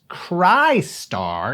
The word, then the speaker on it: Crystar: development and release of a game bearing the same title but pronounced cry star in 2018 for the